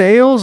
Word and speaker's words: Alles: I believe it's pronounced Ales. I could be wrong, but it's spelled A-L-L-E-S for your S26 Ultra.